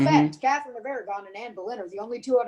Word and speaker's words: Anne Boleyn: not long before she turned in henry's head yeah did you say annie boylan when her name is anne boleyn same thing oh my